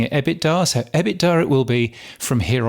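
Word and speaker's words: EBITDA: adjusted ebbit Dar I always thought it was pronounced ebit Dar but Ross Adams ended up pronouncing it ebbit Dar so ebbit Dar it will be from here on in that's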